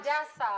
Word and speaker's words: Hadassah: Hadassah, Okay, not Adasa.